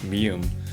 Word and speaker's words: ㅁ: If you can pronounce the English M sound, you can already pronounce mium. Just remember one thing, Korean speakers don't usually hold this sound for very long.